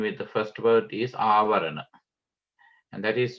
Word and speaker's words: avarana: Of each term, the second word that is combined with the first word is avarana, and that is spelled A-V-A-R-A-N-A, avarana.